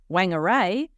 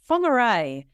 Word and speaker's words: Whangarei: And I was hosting her in a place that she pronounced as Whangarei, and it was actually Whangarei.